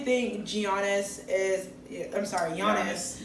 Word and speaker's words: Giannis: I'm sorry, Giannis. Giannis. I know. I always want to say Giannis because I don't know. That's kind of how it's spelled.